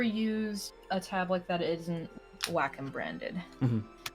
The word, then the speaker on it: Wacom: And I learned it's pronounced Wacom when I called them, and I was like, my tablet's not working. And they're like, oh, Wacom customer service. I'm like, it's pronounced Wacom, not Wacom?